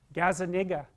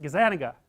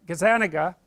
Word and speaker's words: Gazzaniga: to say his name Gaza that's wrong is that Gazzaniga yeah I think that's it anyways he did